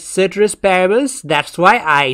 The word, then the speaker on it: ceteris paribus: another series and lastly different people pronounce citrus parables differently there is certain asparabus there is tetris parabus there is caterer asparagus and there is paribus as well i have learned it as citrus parables that's why i say